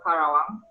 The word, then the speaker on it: Karawang: It's quite difficult to pronounce it actually. It is called Karawang.